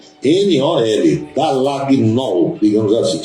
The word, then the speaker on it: Dallagnol: outro A, G, N-O-L, Dallagnol, digamos assim. Só que o G é mudo. Então você pronuncia Dallagnol.